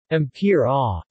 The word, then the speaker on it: Ampyra: Famperidine is also marketed as Ampyra, pronounced Ampyra, according to the maker's website, in the United States by Acorda Therapeutics and as Fampyra in Europe.